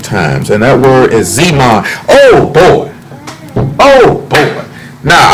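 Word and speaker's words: זְמַן: When it looks at times on this one here, the word is Zeman, and it's spelled Z-E-M-A-N, and it means a set time or season.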